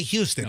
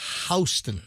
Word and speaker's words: Houston: houston that's correct and you don't say houston it's it's spelled like houston but it's houston do you know where